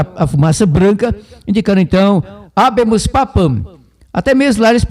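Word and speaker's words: habemus: Até mesmo láes alguém pronuncia errado, pronuncia abamos. É latim. As palavras em latim a maioria são palavras oxítoras. Então, como domine, dominos e habá. Então, daí abemos e não abemos.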